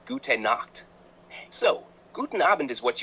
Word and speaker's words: gute Nacht: Good night is gute Nacht, pronunciation gute Nacht.